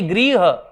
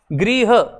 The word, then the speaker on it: गृह: तो ये अपना बी सही, ये ग्रह है, ये क्या का है, ये ग्रह है, ये गृह, गृह उच्चारण री में होता है, ठीक है।